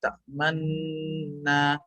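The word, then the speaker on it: تأمنّا: Qalu ya abana malakala ta'manna. Harus ismam dia. Harus ismam. Itu contohnya sih. Oh, kalau rom yang tak manuna gitu, Ustaz. Ta'manna. Jadi ada kayak nu-nya tapi cepat aja nu-nya jadi bacanya. Nuna.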